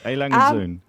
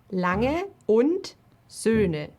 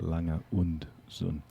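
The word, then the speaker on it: A. Lange & Söhne: Alangenzoon. I think the difficult is the Ö for many English speakers. It's Where is A, lange und Söhne. That's the Ö. Lange und Sohn.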